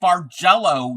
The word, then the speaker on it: bargello: It's pronounced bargello.